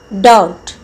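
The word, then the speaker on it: doubt: भी जी साइलेंट है डाउट इसका बी साइलेंट है कुड एल साइलेंट है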